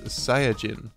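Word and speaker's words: サイヤ人: is a reference to the Japanese name and pronunciation of Saiyans which is saya Jin another popular show with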